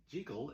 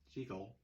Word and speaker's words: Jekyll: As we found out last week in Edinburgh, Scotland, Jekyll is the correct pronunciation. So, even though it's a silent movie and it really doesn't matter how you pronounce anything when you're just pantomiming, the fact of the matter is, in Edinburgh, it's pronounced Jekyll.